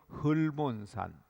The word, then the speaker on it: 헐몬산: 산이 있는데 시편에 나오는 헬몬산 혹은 헐몬산 어 발음을 우리말로는 헬몬산 헐몬산 그렇게 부르기도 하는데 눈이 하얗게 이름도 덮여